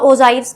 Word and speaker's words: ogive: अब आपने एक नाम सुना होगा ओजाइव्स करके, ठीक है, स्पेलिंग ये होती है इसकी ओजाइव, OGIVE, ये होता है हमारा ओजाइव्स।